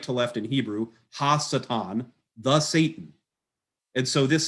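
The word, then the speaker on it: הַשָּׂטָן: the left there are pronounced satan so you pronounce this going right to left in hebrew hassetan the satan and so this is not satan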